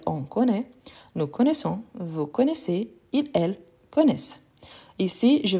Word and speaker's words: connaissent: on ici et ici donc connaiss je ne prononce pas ent en fait c'est les